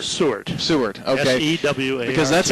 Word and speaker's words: Sewart: Now, was his last name Stewart or Sewart? Sewart.